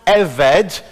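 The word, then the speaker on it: עבד: that big word in the middle and it's pronounced a veg and it can be written now either as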